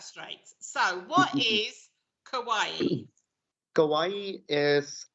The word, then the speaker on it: kawaii: it kawaii or kawaii kawaii kawaii like hawaii yes like hawaii there we go i'm glad we got that straight so what is kawaii kawaii is like um it's